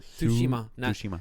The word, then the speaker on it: Tsushima: Apparently the Japanese don't use Tsushima. It's all the same sound on the syllables. It's all Tsushima. Not kind of like accents where you kind of stretch something out.